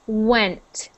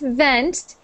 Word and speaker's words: went: touching your lip V but when it's a w it's the sound is made by your lips only no teeth like this w w so went rent not vent keep your teeth away when went R went